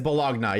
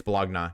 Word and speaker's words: bologna: It is bologna. You're right. No, it's not bologn. It's bologna.